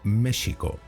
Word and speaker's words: México: México, en la época de Hernán Cortés, se escribía con X y se pronunciaba como México, prepalatal fricativo sordo, pues era el fonema que correspondía a la X, como cuando se llama al silencio a alguien. Shh.